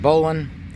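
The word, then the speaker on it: bowline: tied a loop um the bow line some people pronounce it bowling made it quite a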